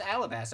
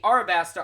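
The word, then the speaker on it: Alabasta: pair is our best i thought it was always alabaster i've been saying it wrong this whole time so the our basta arc is more of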